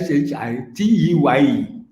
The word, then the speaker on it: Ashitei: What, please, how am I supposed to pronounce it? It is Ashiteye. Okay, that's Gan, right? Yeah, Gan, but actually, the actual spelling should have been Ashitei. Okay. But they Europeanize it, make it.